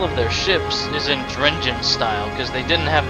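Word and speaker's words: Drengin: And yeah, Drengen is how you say it.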